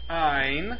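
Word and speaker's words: -yne: for a triple bond it's pronounced in y n e i so what's that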